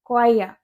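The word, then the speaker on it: choir: लेकिन देखने में ऐसा लग रहा है जैसे चोर है चोरी लेकिन रियल में इसकी करेक्ट प्रोनंसिएशन होती है कोया कोया नेक्स्ट वर्ड है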